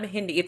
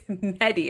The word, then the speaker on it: Mehdi: It's not Mehdi, it's Mehdi.